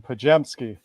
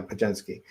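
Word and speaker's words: Podziemski: Help me out with the pronunciation. I always go to beer. He's a Wisconsin boy, so I know this one. Pajemski. Yeah, Pajemski.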